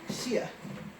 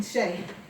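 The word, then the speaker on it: Shea: is played by okay usually that would be pronounced Shia but I'm thinking Shay probably also I think there's another way to pronounce that word wigum who is a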